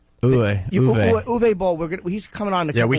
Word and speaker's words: Uwe Boll: How do you say, Yui or Uwe? Uwe Boll.